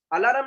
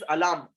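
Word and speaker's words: alarm: अलार्म नहीं है वो, अलार्म. इट इज अलार्म. आर is silent.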